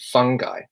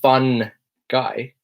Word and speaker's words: fungi: and I pronounce it fungi and you notice with this pronunciation fungi I don't actually pronounce the N heavily fungi I'm not saying fun guy saying fungi fungi hello